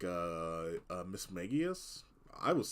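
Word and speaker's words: Mismagius: some of these actually might have only been pronouncing right like for like less than a year like uh Miss magius I was saying Miss Magus for like a long time um Spirits um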